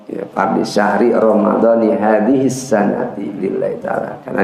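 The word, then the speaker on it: رمضانِ: Kalau giliran dia jar atau giliran fathah jelas bacanya Ramadana. Tapi kalau kemudian dia dirangkaikan dengan kata lain Ramadhani, makanya pada saat kita niat di bulan Ramadan, nawaitu sama wadin an adai fardhi syahri Ramadhani, bukan Ramadana, Ramadhani, ya, fardhi syahri Ramadhani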